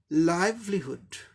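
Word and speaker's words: livelihood: First syllable पर stress mark दिखाया गया है, यानी कि फर्स्ट सिलेबल को जोर दे के बोलना है। लाइवलीहुड, लाइवलीहुड, लाइवलीहुड, लाइवलीहुड, लाइवलीहुड, लाइवलीहुड ऐसे करके बोलना है।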